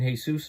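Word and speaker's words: Jesús: I haven't seen Jesus in a while. His name is spelled Heysoos, by the way.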